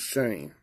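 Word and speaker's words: Shem: The pronunciation, which I abbreviate PM, is S-H-A-M-E. And that's spelled S-E-M. It's pronounced Shane.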